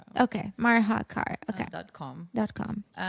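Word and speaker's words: Marhacar: Marakar.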